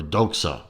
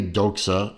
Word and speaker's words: Doxa: this is a a a doxa or doxa depending on how you want to pronounce it this is a doxa adaxa professional sub 750